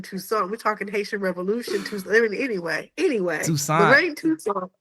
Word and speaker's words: Toussaint: respect on the name Toussaint. We're talking Haitian Revolution. Toussaint. I mean, anyway, Toussaint. Lorraine Toussaint. I thought that was more French. Rhymes with croissant. It's more like Croissant. French Creole, Yeah.